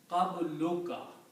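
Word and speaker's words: قبلك: So when we combine these two words, one dhamma is not pronounced and it is pronounced as qabluka.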